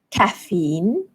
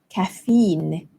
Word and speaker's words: caffeine: in my body so in British English the stress falls on the first syllable caffeine caffeine and in American English it's caffeine the stress falls on the second syllable caffeine so let's do